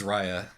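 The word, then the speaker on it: Ryia: call um but regardless it is Rya and um see now now I almost wish that I pronounced it Ria the entire time and you could have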